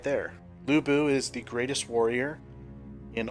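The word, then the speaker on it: Lü Bu: there you go he said it right there Lou boo is the greatest warrior in all of ancient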